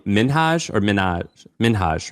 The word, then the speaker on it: Minhaj: With an I think I think his name is actually pronounced Hassan Minhage. And everybody calls him Hassan Minaj because it sounds awesome and it's like Nicki Minaj.